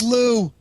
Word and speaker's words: Lou: right exactly I thought my name was Lou which rhymes with goo like what's left of